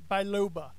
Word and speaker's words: biloba: I need that gingko bio blah am i mispronouncing it you're saying blah PLA there's no L before the Eco blah Oba gingko biloba hi bye lo bye lo bye lo there